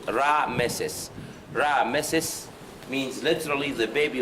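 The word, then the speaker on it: Ramesses: But the most important one, or the famous name, is the coronation one, Ramses. Actually, Ramses is a Greek pronunciation, but the actual pronunciation of Ramses is Ra-Meses.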